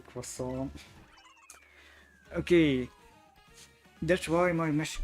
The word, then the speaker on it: croissant: My favorite part about the French language is how they don't say letters at at the end. Like croissant ends with a t, but they don't say it. They say croissant.